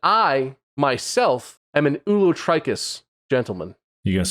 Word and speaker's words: ulotrichous: you can stop oh it's O us not just us okay ulot trius does it stand for